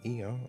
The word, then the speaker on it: Ea: Ia, I believe, was the pronunciation used when referring to our people.